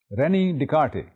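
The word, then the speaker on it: René Descartes: जिसको हम बहुत अहम समझते हैं, वो है रेनी डिकार्टे. RENEDESTARTEC, जैसा कि आप स्लाइड पे भी देख रहे होंगे. रेनी डिकार्टे, written as Descartes, pronounced as Descartes.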